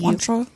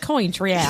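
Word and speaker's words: Cointreau: do you pronounce it c o i n t r e a contra contra oh I would have said coin Tri it's a it's a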